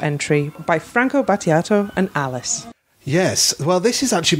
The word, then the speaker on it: Alice: And Alice, or Alice, as it's pronounced in Italian, worked very closely with...